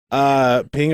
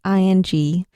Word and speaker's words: Phing: Phing, I thought what we'd do today, and this is a suggestion, and we always take suggestions for the audience.